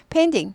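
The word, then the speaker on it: painting: 페인딩. 페인팅 하면은 그림 그리기. 그리기죠. 페인팅. 페인트 칠하기도 됩니다. 여기서는 보통 그리다가 되죠. 그래서 페인딩. 페인딩. 페인팅에서 페인딩 약화돼요. 페인딩. 페인딩. 빨리 하면 페인딩까지 되는데 우리는 그렇게 빨리 못 해요.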